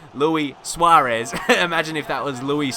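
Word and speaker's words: Luis Suárez: but imagine if Luis how is Luis Suarez that's how you say his name Luis Suarez imagine if that was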